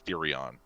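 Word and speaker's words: Theorion: um my name is theoron thea in h e o r i o n so it's basically the orion um that's how you pronounce it theoreon there we go theorem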